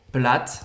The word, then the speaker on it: plate: Plate, também a gente não fala o E no final.